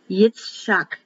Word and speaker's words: Yitzhak: ham now we have isaac which in hebrew is pronounced yitzhak yeshak each each shot